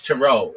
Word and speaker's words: tarot: But this one I'm sure of it's tarot. It's not ter. Nobody calls it tarot cards.